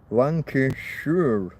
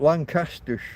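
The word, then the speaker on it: Lancashire: The county that has Lancaster is Lancshire. Shia, meaning an area controlled by a sheriff. A shy reef. The area controlled by a by a by a sheriff. Lancashure, not Lancaster. Not Lancaster County.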